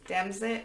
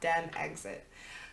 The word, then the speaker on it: DemExit: Pronounce it like Brexit. It is DemExit, not DemExit. So like DMXT.